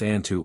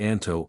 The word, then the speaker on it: Anto: His name was sometimes pronounced Antu or perhaps more correctly Anto or Antu.